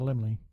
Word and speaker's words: Laemmle: So It's having an exclusive theatrical release at the, I believe it's pronounced the Laemmle Theaters. the Limley.